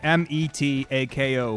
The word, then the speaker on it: Metako: it was really obvious having M-E-T-A-K-O be pronounced Metako, and having a long A sound, and like that would be the emphasis.